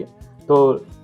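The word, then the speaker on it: haute: ठीक है, तो लास्ट वन है हमारा कुजीन हॉट। ठीक है जी, तो उसको होते भी बोलते हैं, प्रोनाउंसिएशन अलग अलग होते हैं, बट कुजीन हॉट बोलेंगे इसको।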